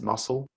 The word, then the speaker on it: musl: library called uh musl that's pronounced muscle and uh this is